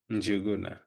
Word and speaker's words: Njuguna: How do you pronounce that name? I don't want to butcher it. Njuguna. So I've done a good job. Yes. So, yes, Juguna.